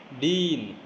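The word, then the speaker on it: dean: क्या लिखा हुआ है, प्रोनाउंसिएशन पढ़ो, ड प्लस ई प्लस ना डीन, क्या लिखा हुआ है, डीन। डीन नहीं लिखा हुआ है, इट्स डीन। कॉलेज में होते ना, द कॉलेज डीन।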